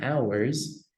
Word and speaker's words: ours: Remember the pronunciation of the O is pronounced like an A, ours, and theirs, okay?